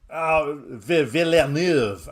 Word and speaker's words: Villeneuve: Called Prisoners from 2013, directed by Denis Villeneuve. Say it properly as well. Villeneuve. Okay, Denis Villeneuve. Is that better? Come on, it's spelt like another word, so Denis for those who like don't act like a 5-year-old.